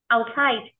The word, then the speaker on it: outside: Outside. Trọng âm rơi vào âm tiết hai.